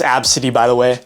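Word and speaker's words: Abcde: It's pronounced Absidy, by the way.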